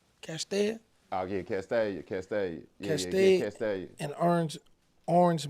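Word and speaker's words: Castalia: then, speaking of Memphis, now correct me if I'm pronouncing this wrong. How far is Castellana, Castellina, Castellia, Oh yeah, Castellia.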